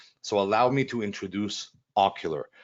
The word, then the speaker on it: Ocqlar: for life right so allow me to introduce ocular right it's it says ocqlr it's uh pronounced ocular so it's the best animated video maker that